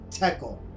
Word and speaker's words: tekel: single word in the ancient Hebrew language that's pronounced as tekel, and basically means you have been weighed in the scales and found deficient.